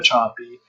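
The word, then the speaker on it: Sapi: So for instance, according to Petri dish experiments conducted by Eva Choppy, her last name is spelled S-A-P-I, you can just look up Eva Choppy and biofilms, and you'll find some of her research.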